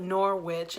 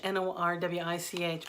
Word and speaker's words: Norwich: in Norwich for Americans we call it Norwich n o RW i CH but I have been corrected by many locals and it's pronounced Norwich like porridge and I would love